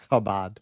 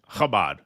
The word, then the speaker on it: Chabad: How do you say it? Briefly. Chabad. Chabad.